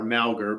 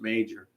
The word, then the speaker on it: Mauger: you search the document for m g r malgar but properly pronounced major you'll see and and and of course this